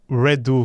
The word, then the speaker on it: Redot: se não me engano redu que eles querem que seja pronúncia porque tem um trocadilha aí de redu ser refazer né mas então por que